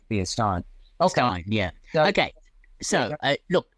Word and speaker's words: Stein: good okay I mean when you think of a a Stein of beer s t i n you don't say Steen no um but yeah